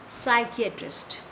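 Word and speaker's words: psychiatrist: P silent है इधर, हम इसको क्या प्रोनाउंस करेंगे? साइकियाट्रिस्ट.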